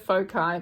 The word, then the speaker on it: Foci: I'm calling it Foci because it's the plural of focus.